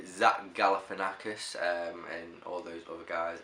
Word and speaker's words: Zach Galifianakis: So in 3rd spot, I always get his name wrong. I always call him Jeff, and it's Zach. It's the Zach Galifianakis, and all those other guys.